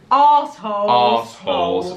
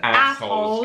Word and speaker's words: arseholes: Arseholes. Well, I said assholes because that's how Americans say it and understand it.